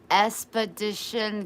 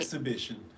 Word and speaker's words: exhibition: Expedition Game. Exhibition. Like an exhibit. Exhibition. Expedition. Did I say it wrong again? Yeah, not expedition. Exhibition.